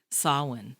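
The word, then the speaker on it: Samhain: uh you know well pronounced by the way my wife will be very I had to practice that sah please don't say sah no that is what I used to say but I learned yeah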